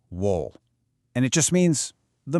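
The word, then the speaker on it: 월: It's pronounced wool, and it just means the moon.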